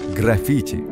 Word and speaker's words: граффити: святынь такие надписи и называются итальянским словом граффити с ударением именно на второй слог конечно менталитет людей 11